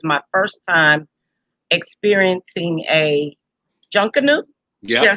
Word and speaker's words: Junkanoo: It was not my first time being there, but it was my first time experiencing a junkanoo.